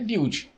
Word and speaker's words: Bild: Segundo o jornal Bild, Bild, eu não sei como se fala, Bild? É Bild.